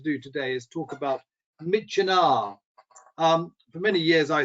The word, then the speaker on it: Myitkyina: And it was only in my first trip to Burma in 1999 that I had someone tell me that it rhymes with Kitchener.